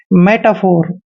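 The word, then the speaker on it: metaphor: है next word देखिए एम ई टी ए दोस्तों एम का उच्चारण मैं करते हैं ई को हम ए की मात्रा पढ़ते हैं और टी का उच्चारण ट करेंगे ए को आ की मात्रा पढ़ते हैं यानी कि मेटा और पीएच का उच्चारण हम फ करते हैं ओ को ओ की मात्रा पढ़ते हैं आर को हमने र लिखना है मेटाफोर मेटाफोर होता है दोस्तों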